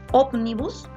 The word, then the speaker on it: ómnibus: Ómnibus es una palabra que es esdrújula porque tiene la mayor fuerza de voz en la antepenúltima sílaba.